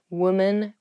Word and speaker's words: women: not women's or womans even though the uh the singular and the plural form of women and women have the same spelling at the beginning wom the pronunciations are different women women so watch out for